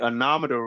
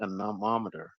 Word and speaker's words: anemometer: don't remember but uh the anometer will call it that for now I want to say it right it's the anemometer an anemometer anemometer maybe that's it um this is used